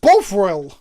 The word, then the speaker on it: Bovril: Shivum, it's pronounced Bovril.